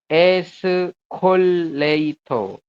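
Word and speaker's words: 에스컬레이터: Ese ya, ese kemudian ada 3 huruf berarti kol. Kemudian le, kemudian i, kemudian to. Nah, tanya udah terakhir seperti ini. Jadi mengejanya teman-teman gampang ya. Escoleito seperti itu.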